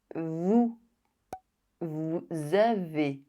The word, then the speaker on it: Vous avez: The liaison is compulsory between the verb and the pronouns that follows it.